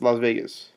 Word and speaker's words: Las Vegas: from las vegas and even las vegas is a spanish pronunciation it's not english it's not even anglicized it's las vegas so i don't understand